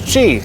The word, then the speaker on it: Qi: Spelled QI and pronounced as Chi, a 7-year-old adult male